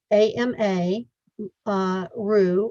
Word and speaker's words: Amaru: Ama, A-M-A, Ru, R-U, Amaru.